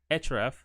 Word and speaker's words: href: uh this is called attribute it's called href href that's how it's pronounced most of the time so href uh and then equal to and then you